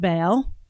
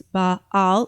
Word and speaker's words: Baal: __ ] Listen to Epstein's niece talk about Bale. Deeper dive into Bale, which by the way, corre correct pronunciation is baal. So there's actually a dot between the two a's in the cemetic language. So, it's baal or bal.